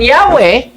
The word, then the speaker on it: Yahweh: While inclining to the view of pronunciation Yahweh, the more correct way we have retained the form. Anong sabi? Jehovah. Ngayon, anong sabi sa kanilang aklat? The more correct way is Yahweh than Jehovah.